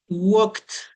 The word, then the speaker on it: walked: Pero como es pasado walked, no pronunciamos la ed como en el caso del segundo.